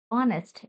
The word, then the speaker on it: honest: It starts with a H consonant, but pronunciation is honest.